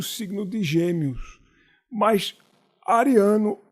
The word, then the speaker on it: Ariano: disse adrià a de você disse adriano suassuna e meu nome é ariano visto ao contrato mas